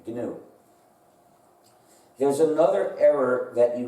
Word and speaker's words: GNU: dictionary because if you say let's run the new system well you're mistaken we've been working on